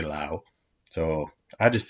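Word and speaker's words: Laos: heard never been to Lao uh and it's pronounced Lao not La so even in English if it's supposed to be but they say Lao so I just say Lao Lao is better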